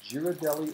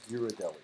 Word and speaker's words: Ghirardelli: Is it Girardelli or Ghirardelli? Oh, I probably butchered it. No. No. I I really want to know. You're right. It's probably Ghirardelli.